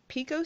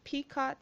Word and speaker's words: picot: stitch and two next we're gonna do a picot stitch peacott stitch P ico T stitch I always mispronounce it so we're gonna do that next